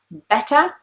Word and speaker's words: better: So for example, in the word boring, you can hear it, it's R, whereas in the word better, you can't really hear it.